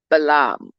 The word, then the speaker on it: Balaam: I know that a lot of people would say the word Balaam and say Balaam, but I pronounce it Balaam.